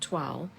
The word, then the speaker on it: toile: This one is pronounced like that, toile, and this one is pronounced like this, tool.